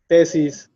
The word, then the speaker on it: tesis: Okay, so if you notice, these words, also like tesis, caravana, cabo, they have the strength in the penultimate syllable, the second to last syllable, right?